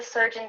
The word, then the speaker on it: surgeon: might say, oh, I have to see the surgeon today. I'm worried about what he's going to say. Make sure that you pronounce it correctly.